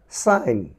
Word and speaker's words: sign: আবার বলছি, এন এর পূর্বে যদি জি থাকে সেটি সাইলেন্ট থাকবে। দেখো SIGN, সাইন, সাইন, সাইন।